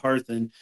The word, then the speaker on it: Harthun: Yeah, most people you know, the the two things that I usually see wrong that you got absolutely correct was my last name of Harthen and Altharian. You got both of those correct.